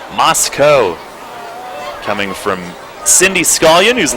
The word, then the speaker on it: Moscow: We have confirmation on the pronunciation of his hometown in Idaho. It's Moscow coming from Cindy Scolion who's listening in the stands tonight.